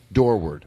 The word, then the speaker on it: Dorward: Dorward.